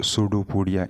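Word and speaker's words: pseudopodia: होंगे these are called सूडो पडिया इनको सूडो पड़िया कहा जाता है सूडो पोडिया यहां पे यह स्टार्ट में पी साइलेंट है अच्छा तो इसके इर्दगिर्द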